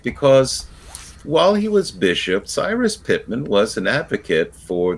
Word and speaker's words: Cyrus: Yes, and Kevin, you've given the Persian pronunciation of Cyrus, Sirius. His name is Cyrus Pittman. But in Iran, you say Sirius.